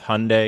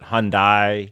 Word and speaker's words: Hyundai: I personally would have called it the Hyundai Boys, but I think people have an issue with Hyundai because they don't know if they're supposed to pronounce it Hyundai, right, or Hyundai, or that's Hyundai.